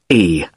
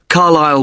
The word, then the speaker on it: Carlisle: It's Carlisle. You don't pronounce the S. Carlisle Way.